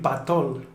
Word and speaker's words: patol: Pero, claro, si ya empezamos a unirlas, podemos decir patol.